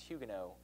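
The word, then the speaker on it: Huguenots: Protestants there are called Hugo spelled hugenots but pronounced Hugo and so if you were a follower of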